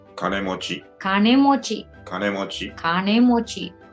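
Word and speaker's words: 金持ち: someone who has lot of money you say kanemochi kane mochi mochi kane mochi or you use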